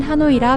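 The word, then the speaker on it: Hà Nội: 하노이는 물을 뜻하는 한자하와 안을 뜻하는 내의 합성어로 베트남어로는 한노이라 발음이 됩니다.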